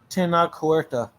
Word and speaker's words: Tenoch Huerta: I can't even fucking pronounce it. You're too Mexican. You're too Mexican for our white people tongue. Tenoch Huerta.